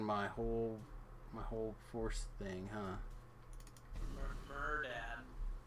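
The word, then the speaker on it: Mehrdad: Murdad. I don't know, that's how you say his name or not, but that's how I'm calling him today. Is he like a mermaid dad? No, it's like M-E-H-R Dad. Is his name.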